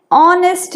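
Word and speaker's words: honest: यहां बिल्कुल भी एच की साउंड नहीं है। एच यहां पे क्या है? साइलेंट। यहां पे भी एच साइलेंट था। ऐसे वर्ड्स जिनकी आवाज नहीं आती है फोनेटिक्स में उनको हम साइलेंट बोलते हैं। तो एच यहाँ पे साइलेंट है। यहाँ पे प्रेजेंट जरूर है लेकिन साइलेंट है। और इंस्टेड किस चीज की साउंड आ रही है? वॉवल ओ की।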